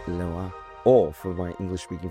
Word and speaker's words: Leroy: We are here with Hugo, Lesizza from Perrelet and Leroy, or for my English speaking friends who have no elegance in their pronunciation, Perrelet and Leroy.